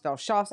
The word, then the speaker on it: Velchoff: And I've heard it Vehlchoffs. I mean, I know because I've asked, how do you pronounce it?